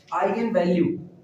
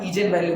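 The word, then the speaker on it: eigenvalue: जाता है इस कॉल्ड आइगन वैल्यू। तो कुछ लोग इसको ना ईजेन वैल्यू भी पढ़ते हैं, कंफ्यूज मत होना, अपने लोग हिंदुस्तानी हैं, कोई भी अंग्रेजी प्रोनाउंसिएट करेंगे सब समझ में।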